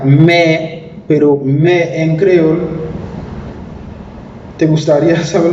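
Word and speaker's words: mè: Se pronuncia me, la cabra, pero también esa letra M con la E se pronuncia me, pero me en creol.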